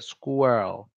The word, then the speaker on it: squirrel: how we say a squirrel school okay so the spelling really makes it confusing but it's still kind of a difficult word to pronounce in general and I do